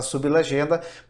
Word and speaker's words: sublegenda: A palavra sublegenda, veja que nós temos aí a pronúncia da palavra sublegenda, a própria pronúncia ela já separa o B do L. Sublegenda, nesse caso, não forma um encontro consonantal perfeito.